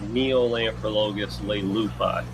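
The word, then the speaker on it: Neolamprologus leleupi: One right here, what is the proper way to pronounce this fish? This would be Neolamprologus lupi.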